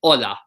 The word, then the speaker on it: hola: pronounce not H its hola H is silent oh Allah Allah Allah